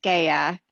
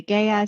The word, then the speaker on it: GEA: with a fun fact on gaia so the pronunciation of our company if you're in germany is gaia if you're in the u.s some people say gaia some people say gea it just kind of depends on preference so